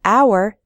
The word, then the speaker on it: hour: H H sound but in the word hour the H is silent so we say an hour we say a non-governmental